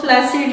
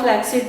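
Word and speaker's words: flaccid: इस्तेमाल करते हैं वो फ्लैसिड या फ्लैक्सिड, दोनों प्रोनाउंसिएशन आप यूज कर सकते हैं।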